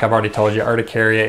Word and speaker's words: urticaria: urticaria means am I sometimes you'll hear me pronounce eudicaria instead of urticaria and the reason is is